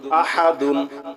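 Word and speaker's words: أَحَد: দাল দুই পেশ দুন, আহাদুন। থামলে হবে আহাদ।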